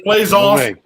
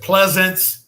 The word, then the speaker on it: Plaisance: Yeah, it's Plaisance. Some people says Pleasance and all Plaisance kind of stuff like that.